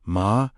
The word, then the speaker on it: Mamona: This is exactly why the Aramaic understanding of Mamona pronounced ma-moh-na, meaning wealth, material resources, or whatever becomes the object of one's deepest trust remains so relevant today.